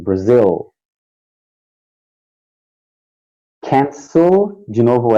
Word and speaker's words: Brazil: Isso, não pode ser igual o brasileiro fala Brasil com letra U. Tem que ser um L mesmo, Brazil.